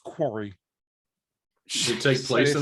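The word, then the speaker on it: Kwari: yeah no it's a game called quarry k-w-a-r-i quarry it's pronounced quarry should it take place in a quarry was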